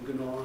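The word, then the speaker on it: gnaw: Nora is a common first name for women, but Nora Bone, of course, is representing Gnor, the G isn't pronounced in Gnor, as you know that, the thing to bite at with your teeth.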